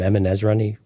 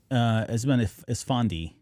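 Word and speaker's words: Eman Esfandi: Emin Ezrani. I can never pronounce his name right. Who plays Ezra? Esmond Esfandi.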